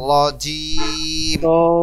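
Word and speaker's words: رجيم: এখানে আউজুবিল্লাহি মিনাশ শাইতানির রজিম রাজিম না রজিম হবে র উচ্চারণ হবে রব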